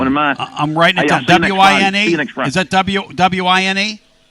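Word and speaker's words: Wein: W-I-N-E. Is that W-I-N-E? W-E-I-N, but it's spelled. But they pronounce it Wine.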